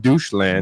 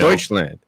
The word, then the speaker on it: Deutschland: They could it's create not called Doucheland. It's Deutschland. Mildly aggressive ginger.